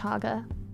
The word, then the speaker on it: chaga: Ground this is a cha mushroom it is pronounced chaga that's a mushroom I leaning towards the fungus